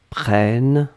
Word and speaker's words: prennes: que je prenne eux que tu prennes e s donc on est d'accord qu'on n'entend pas le s mais si vous voulez écrire correctement vous devez écrire avec le s à la fin pnn e s après